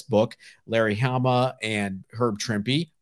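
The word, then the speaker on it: Trimpe: larry hama and herb trimpy rhymes with shrimpy i'll never forget that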